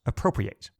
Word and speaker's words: appropriate: is the verb appropriate this is spelled exactly like the adjective appropriate but again pronounced appropriate according to google the